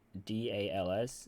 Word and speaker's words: DALS: I will also note I have another project that I've been procrastinating like crazy, which I call DALS, and I pronounce it like Dallas, Texas. Um, but it stands for dot avoidance last slot.